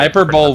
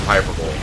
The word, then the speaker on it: hyperbole: actually heard some people hyperbole would be a super tree i've actually seen people pronounce the piper bowl i mean that doesn't make them right but when enough people